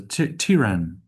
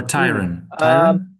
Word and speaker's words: tyrant: I would give that you like why in that word.